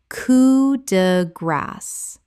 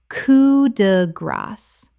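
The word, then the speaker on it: coup de grâce: anime anime Word 213 coup de grace Common mispronunciation coo de grace Correct pronunciation coo de grace The S at the end is actually pronounced in this French phrase because it ends the phrase.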